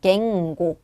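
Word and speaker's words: 言語: 이때 어라는 발음이 와 있고 이거 에라고 해서 갱고 게라는 발음으로 발음한 거 체크해 주셔야겠죠? 갱고가 되겠습니다.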